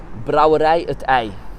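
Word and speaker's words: Brouwerij 't IJ: So here's Vanya to pronounce it for you. I'm sorry, can you say the name again? Brouwerij-t-ij.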